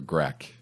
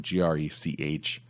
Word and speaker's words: Grech: The Maltese Pro-Secretary General Bishop Mario, I don't know if it's Gretsch or Grech, how you pronounce it, Grech. I've never heard it pronounced, but that guy's the